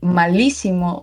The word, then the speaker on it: malísimo: would be D-Wix is malísimo jugando Counter-Strike. Malísimo lleva acento en la I, por cierto, la primera. Is it? Malísimo. Yep. Palabra esdrújula.